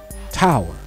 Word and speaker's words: TOWÄR: title of this video it's pronounced Tower but for me it